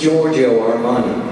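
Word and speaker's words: Giorgio Armani: features Leisure and active sportsare Watson who is Georgio armoney that's exactly right and very well pronounced I might add nicely done Watson our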